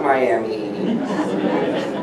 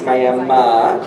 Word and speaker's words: Miami: I pronounce it correctly it is not Miami it's Miami and we were dating